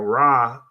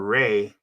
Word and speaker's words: Ra: the Egyptian solar deity now raah or Rey some people pronounce it raah or Ray he is the Sun